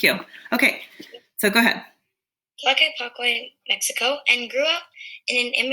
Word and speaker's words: Tlaquepaque: Tlaquepaque? I'm going to look it up because I don't know how to pronounce that either. Thank you, though. Tlaquepaque.